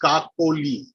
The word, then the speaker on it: Kakoli: Since we have a few people from India in this call, I would correct Alicia's pronunciation of the name. It's Kakoli.